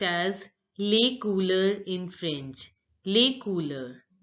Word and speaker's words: les couleurs: Now recognize the sounds. Les you already know how to pronounce, and OU sound. Because OU are together, it has to be pronounced as oo. Oo. And EUR has to be pronounced like Les couleurs. And L, the last letter generally is not pronounced in French, so S is not to be pronounced. So it is les couleurs, les couleurs.